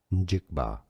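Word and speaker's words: Njigba: American football player name pronunciation. More names from football stadium. Seattle Seahawks. Jackson Smith. Jackson Smith. Of course. Jigba.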